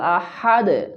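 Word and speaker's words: أحد: কুলহু আল্লাহু আহাদ হা ভিতর থেকে বলতে হবে আহাদ একসাথে বলি কুলহুয়ল্লাহু আহাদল্লাহ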